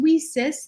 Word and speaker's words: WiCyS: acronym lisa's w-i-c-y-s and it's pronounced we cis like we sisters because we are a cyber sisterhood and we're a 501c3